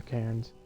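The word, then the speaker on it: cairn: These are canires. C A I R N. Dustin's K. That's how you really spell it.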